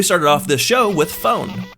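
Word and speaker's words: Fohen: off this show with phone which is spelled f o h e n not like a telephone and I'm not actually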